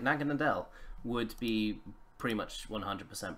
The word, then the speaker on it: Naganadel: I mean, Naganadel, no, I said it right, Naganadel would be pretty much 100% broken in a League format, I feel.